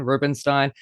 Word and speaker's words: Rubinstein: Tony Award winner John Rubinstein, and I am saying that right. Yes, thank you for saying it right. People very often mispronounce it, but no, you got it right.